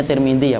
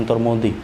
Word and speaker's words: Tirmidzi: Bacanya Tirmidzi ya Pak, jangan Turmudi. Turmudi itu tukang batu, tetangga saya itu Turmudi. Tirmidzi.